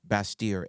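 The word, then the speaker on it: Bastyr: b t yr correct it's a French pronunciation yeah basier and their main campus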